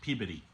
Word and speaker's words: Peabody: Now, from when I lived in Massachusetts, I'm told that's pronounced Peabody.